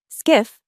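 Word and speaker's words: SCIF: Skiff, pronounced skiff, stands for sensitive compartmented information facility.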